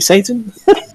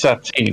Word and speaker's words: Satine: Thank you, Satan. Bad guy. Pronounced Satine, actually.